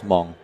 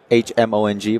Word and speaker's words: Hmong: is the language is Hmong h-m-o-n-g by the H is silent so it says m-o-n-g Hmong m-o-n-g-h-m-o-n-g Hmong yep what